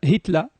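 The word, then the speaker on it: Hitler: ان ان اخبرتك ان هتله للاشاره فقط على الهامش هتل هكذا تنطق بالالمانيه مثل كارل زيمون بو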